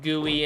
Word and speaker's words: GUI: knew it all along I knew it was pronounced gooey and yet I pronounced it wrong because it gets me